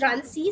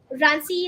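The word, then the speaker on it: runc: level container runtime is something like runsees uh I hope I'm pronouncing it right but this is my pronunciation of it and it's 14 right yeah so if it's wrong I do not know but I think it's right I hope people don't pronounce it as well drink yeah it's a suddenly wrong but in my head it's rancy so yeah rancy is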